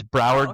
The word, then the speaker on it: Broward: Lucie and it's Broward County and I remember that because it rhymes with coward because that's where like one of those school shootings happened where the cops didn't go in.